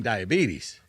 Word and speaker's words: diabetes: Wilford, please, can you enunciate a little more? It's diabetes.